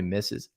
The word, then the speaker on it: Mrs: which by the way that Mrs depending on where you live in the south might be pronounced differently but it's definitely misses yeah yeah my dad says Miser is or whatever I don't know